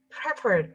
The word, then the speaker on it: preferred: In terms of pronunciation, I'm glad that the only word that was mispronounced, and that because of the incorrect stress and intonation, the fall of stress, was the word preferred. So preferred way of communication, not